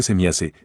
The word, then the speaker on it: Semjase: Para detalles al respecto, véase los reportajes de Contactos con Semjase, Pronúnciese Semiase, del año 1975, cuando los Pejaren ya habían advertido acerca de la destrucción de la capa de ozono.